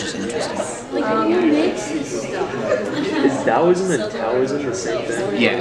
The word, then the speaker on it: Taoism: Is Taoism and Taoism the same thing? Yeah, it's pronounced Taoism.